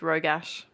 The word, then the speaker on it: Rogash: How do you pronounce it? Just Rogash. Rogash. Just how it's spelled.